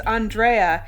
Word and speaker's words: Andrea: and she said, "Hi, my name is Andrea. It's pronounced the Mexican way."